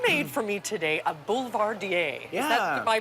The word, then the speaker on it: Boulevardier: Now, you made for me today a Boulevardier. Yeah. Am I pronouncing that correctly? Yes, a Boulevardier is an amazing classic cocktail.